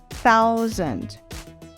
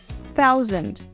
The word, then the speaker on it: thousand: Vale frisar aqui que a forma correta de pronunciar essa palavra é com esse som de TH. Thousand. Mas na fraseologia, para que esse som sofra menos interferência via rádio, nós falamos thousand, com o som da letra T na fraseologia especificamente.